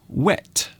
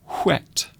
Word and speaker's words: whet: Some people say wet. Others will say whet.